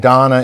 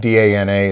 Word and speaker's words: Dana: We've now learned that she's Israeli and Donna is good job. That's the Israeli pronunciation of D-A-N-A is Donna, so that's why it's Donna and not Dana.